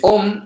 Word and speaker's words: Om: Dice Om, aunque él todo el rato va escribiendo A-U-M, ¿vale? Om está compuesto de las letras A-U-M.